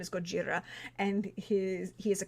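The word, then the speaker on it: ゴジラ: me I know that is how to actually pronounce his name is Gojira and his he is a kaiju yeah but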